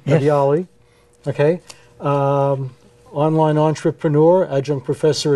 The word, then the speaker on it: Ghadiali: I think I pronounced that correctly. Yes. Ghadiali.